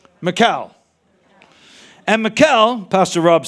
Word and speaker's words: Michal: And remember Michael or Michelle, whatever, how would you pronounce her name? Michal.